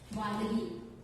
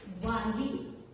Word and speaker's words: वानगी: पण ही म्हण म्हणता पुढे वांगी या शब्दाचं उच्चारण आपण वांगी असा केला. पुढे या वांगी या शब्दाचा उच्चार आपण चुकलाय की वानगी आणि वांगी.